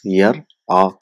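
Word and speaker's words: يرى: So it becomes yar a. So now we know, because over a period of time, this yar a being pronounced, if we select yar a, yar a, yar a, yar a, yar a, yar a, so people started to, instead of saying yar a, they started to using the word yara.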